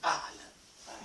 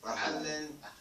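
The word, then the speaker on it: أهلا: Ahlan.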